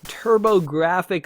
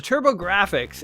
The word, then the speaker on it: TurboGrafx: is the good old TurboGrafx 16. Yes, the PC Engine. For those of you, I believe it's called that in Japan or Europe. But the TurboGrafx, and it's spelled GRAFX, so it's like graphics.